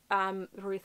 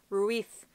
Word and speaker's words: Ruiz: And the beautiful thing that I love about the audiobook is he pronounced everything right. Ruiz. Not Ruiz.